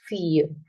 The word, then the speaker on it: fille: ILL is silent in French. There are only three options where it is pronounced, otherwise it is silent. That is fille, la fille.